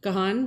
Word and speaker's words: Gahan: the show, and that's the, how do you pronounce that? Gahan Blueberry Ale.